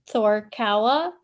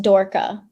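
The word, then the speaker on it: Þór/KA: clubs in Akureyri, and it's Thor is like the first part, and then Kawa, and then together it's Thor Kawa. But when I first read about it and everything, I thought it was pronounced Dorka because of their D letter with the line through it. Yeah. So I was saying Dorka, and yeah, it was way off.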